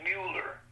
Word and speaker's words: Mueller: Mueller is not the proper pronunciation. It's Mueller.